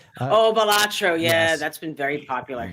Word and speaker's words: Balatro: really cool um Arco is it pronounced balatro I think that's how it's pronounced oh balatro yeah that's been very